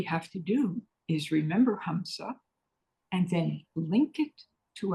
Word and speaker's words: hamsa: that we use is hamsa it's spelled h MSA hamsa hamsa is a breath monra hamsa is the sound that your breath makes when you inhale and exhale hamsa goes on within you every